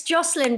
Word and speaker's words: Jocelyn: but it's good yeah yeah anyway yeah it's Joselyn but I think that's hard to pronounce in um Brazilian right yeah yeah similar